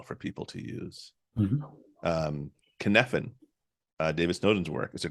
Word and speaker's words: Cynefin: Sure, it does, and it sounds nothing like how it's spelled. Nothing like how it sounds. It's Cynefin. He's Welsh, I believe, and he used I don't remember what the term means.